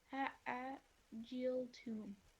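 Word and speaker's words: أَعَجِلْتُمْ: A, a, n- a, jil, tum.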